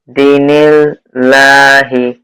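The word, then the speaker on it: دِينِ اللّٰهِ: দিনিল লাহি, দিনিল লাহি। দিয়ে দালিয়া যে দি মধ্যে তবে আর একটু টান হবে, একটু টান হয়েছে, আর একটু টান হলে আর একটু সুন্দর হবে।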